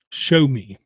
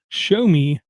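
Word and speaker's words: Xiaomi: it I want to mention it's called a show me okay if you haven't heard of show me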